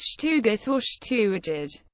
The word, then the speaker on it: Stuttgart: by its native inhabitants in that dialect the city's name is pronounced Shug orid however many non swabian